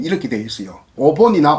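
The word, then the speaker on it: お盆: 어떤 표기법은 오봉 이렇게 되어 있어요. 오본이나 오봉은 같은 발음이다. 미영과 이영 중간 발음이다. 그래서 오본 혹은 오봉.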